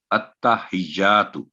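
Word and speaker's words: التحيات: اتا پہلا ساؤنڈ ہوگا اتا، دوسرا ہوگا ہجا، تیسرا ساؤنڈ ہوگا تو. التحیات، تو یہ ہے اس کا صحیح تلفظ.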